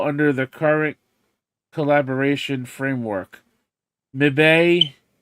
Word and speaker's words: Mibe: Mibe, M-I-B-E. It's pronounced Mibe in Japan, in It Japanese.